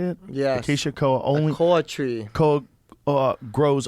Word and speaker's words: Acacia koa: species Acacia koa only grows. Is that how you say it? Yes. Acacia koa only A koa tree.